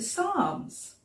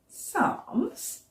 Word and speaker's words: Psalms: It's got a silent p at the beginning, hasn't it? We don't say the p, otherwise we'd say psalms, and that sounds a bit funny. So we just say psalms instead.